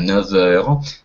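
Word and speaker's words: neuf heures: Если будет, например, какой же возьмем, 9 часов будет «не», а там тоже будет связывание «9 heures». «Ф» будет произноситься как «в».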